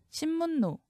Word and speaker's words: 신문로: 신문로, 역시 비음화가 일어납니다. 리을이 니은으로 바뀌죠. 그래서 RO가 아니라 NO로 적으셔야 합니다.